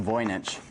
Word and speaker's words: Voynich: And the Voynich Manuscript, and that's pronounced Voynich, has been the subject of intense interest by cryptologists for a good 100 years or so.